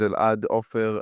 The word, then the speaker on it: Elad Offer: Uh yeah so um like I said my name is Elad Offer um I am a director um I come